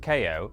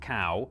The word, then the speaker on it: Kao: playing a bit of ko the kangaroo it's pronounced ko it's not pronounced cow it's not pronounced anything else it's quite simple